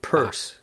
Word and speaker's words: Peirce: It's one of the things about being someone who knows about Peirce, is you say Peirce.